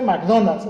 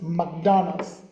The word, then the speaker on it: McDonald's: Nike es Nike verdad no se dice McDonald es McDonald's verdad Ella salió así en